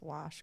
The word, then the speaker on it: wash: to work on your pronunciation of wash it's not warsh there's no R in there sir no r no R yeah he chastises me